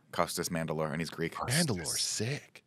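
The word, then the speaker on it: Mandylor: Mandalore and he's Greek Mandalore sick I might be mess pronouncing it's m a n d y l o r but we'll go Mand like the Mandalorian I agree with you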